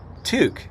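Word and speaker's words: toque: call them tooks okay which is funny because it's spelt i think it's spelled t-o-q-u-e it is you know super weird but tuke yeah a tuke is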